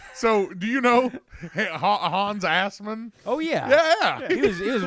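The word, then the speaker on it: Assmann: Nolan Ryan of throwing rocks was Hans Assman. Good Lord. Hey, it's pronounced ass man.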